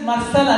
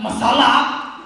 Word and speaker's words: Marcela: upset excuse me sir my name is Marcela not Masala I'm like lady you're